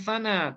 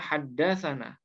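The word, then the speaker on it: حدثنا: Jadi, hadirin sekalian, jika kita membaca sebuah hadits atau sanadnya dan tertulis sebagai "tsana," jangan membacanya sebagai "tsana," tetapi bacalah sebagai "haddasana."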